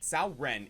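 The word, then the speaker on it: Cao Ren: if all three we find the induction it's pronounced in history sauren is a major badass serving in the Eastern Han Dynasty under his second cousin over his tumultuous career as a general Sao Ren proved himself to be especially dangerous in defensive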